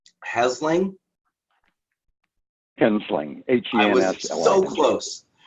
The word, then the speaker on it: Hensling: Hensling. H-E-N-S-L-I-N-G. I was so close. I missed one syllable.